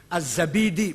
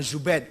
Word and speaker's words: az-Zabidi: Az-Zabidi, bukan Zubaid, Zabid.